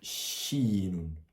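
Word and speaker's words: شين: C'est la combinaison de du C et du H. Comme un chat par exemple, ça fait chinon.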